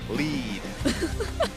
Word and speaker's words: lead: I'm just I'm just saying cuz l e e d what lead like need but there's an l there you know.